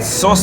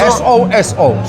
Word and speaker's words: Soso: Soso? S-O-S-O.